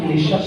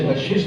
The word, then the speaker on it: نشست: یہ لفظ نشست ہے، نشست نہیں ہوتا. نون کے نیچے زیر ہے، شین پر زبر. نشست بر وزن شکست.